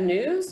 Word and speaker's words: NWSS: national wastewater surveillance system nwss we pronounce that news because any good government